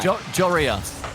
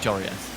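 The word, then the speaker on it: Joreuz: Jorius. That's how you say it, Jorius.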